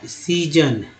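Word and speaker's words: season: जैसे अगर एक वर्ड है सीजन, पहला एस स तो सी हो गया, और दूसरा एस ज तो ज हो गया, इसको ज, यानी इसको स इसको ज, दोनों बोलते सीजन।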